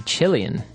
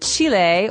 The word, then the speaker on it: Chile: a Brazilian and a Chilean. Okay, so Brazilian. In this country, there are many Brazilians. And Chile, or Chile, as many Americans say, has people called Chileans.